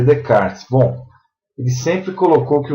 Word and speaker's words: Descartes: Então, Descartes, se escreve Descartes, e se lê Descartes.